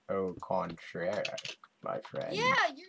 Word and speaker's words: au contraire: No contraire. Let me put my armor on. Stop saying that. It's like, you're not saying it right. Oh, contraire, my friend.